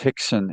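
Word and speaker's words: Rickson: Uh the wind down on uh Hixon Gracie spelled R I C Ks O N Ricken, but it's pronounced Hixon in Portuguese.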